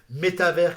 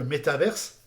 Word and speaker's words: métavers: français, métavers tout court, parce que ça vient de univers, donc l'univers, c'est ce qu'on connaît déjà, dans lequel nous sommes, et le métavers, c'est un univers parallèle, donc on va plutôt prononcer métavers que métaverse.